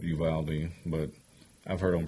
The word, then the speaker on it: Uvalde: lived we had a town that was called uvalde but i've heard him pronounce it uvaldi i don't know uvalde yeah in texas i